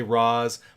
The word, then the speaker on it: Ra's: Ollie and his crew would say Roz. Members of the League would say Raish.